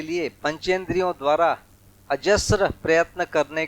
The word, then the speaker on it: अजस्र: अजस्र एक शब्द है, अजस्त्र ऐसा इसमें लिखा हुआ है, वो गलत है, माने स्पेलिंग उसकी गलत है, अजस्र होगा ये सब है ना, ये स्र हुआ अजस्र।